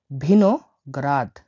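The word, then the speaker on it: виноград: ভিনোগ্রাদ। ভিনোগ্রাদ মানে হলো আঙ্গুর, ভিনোগ্রাদ, ভিনোগ্রাদ। আমি এটা ভেঙে দিচ্ছি দেখুন। এইখানে বি, যদি এরকম বি থাকে তাহলে উচ্চারণ হবে ভি, আর যদি এরকম বি থাকে উচ্চারণ হবে বি।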